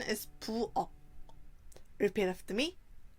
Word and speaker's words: 부엌: We write 부엌 like this, but the pronunciation is 부엌. Repeat after me. 부엌.